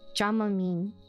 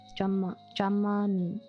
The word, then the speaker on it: Dramamine: Dramamine. With the short A sound for both A's. Dramamine.